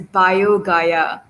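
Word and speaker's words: BioGaia: and okay so kenya replied he said it's pronounced as bio gaia it's a tablet for probiotics uh he gives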